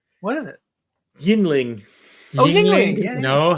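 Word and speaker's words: Yuengling: Yingling. Oh, Yingling. Yeah. No, how do you say it? Yingling. No, you don't. Yangling.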